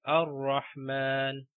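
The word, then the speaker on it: الرحمن: Again, here we have ar-rahman. Okay, so we are starting the ayah with hamzatul wasl, that's why we pronounce it like ar-rahman.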